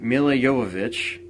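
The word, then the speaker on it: Jovovich: time but they got M yovich which is how you actually pronounce her last name um to play a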